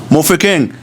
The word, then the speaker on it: Mofokeng: Mofokeng, how do you pronounce it? Mofokeng.